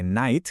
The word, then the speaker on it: knight: Por ejemplo, hace siglos, en el inglés antiguo, la K de knight, caballero, sonaba, y sonaba bien fuerte.